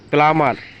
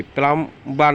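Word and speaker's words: plumber: প্লামার, পাইপের মিস্ত্রি, প্লাম্বার না, প্লামার। থাম, বৃদ্ধাঙ্গুল, থাম। মাতৃগর্ভ, মানে বি এর উচ্চারণ হবে না।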